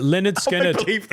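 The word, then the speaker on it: Lynyrd Skynyrd: Uh, Leonard Skinnard is pronounced Leonard Skinnard.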